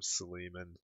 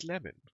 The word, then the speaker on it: Sleeman: Tom Sleeman. It's actually pronounced Slemin.